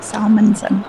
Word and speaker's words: Salmonson: I said it right, Salmonson.